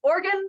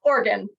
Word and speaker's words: Oregon: It's pronounced Organ, like the things in your bodies. It's Oregon.